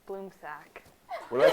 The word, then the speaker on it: Blumsack: It's Bloomsack. What did I say? Bloomsack. I've been saying Blumsack all winter. It's Bloomsack. I've been saying Blumsack all winter. Too polite to correct you. Fact, bloom sack, tomato, tomato.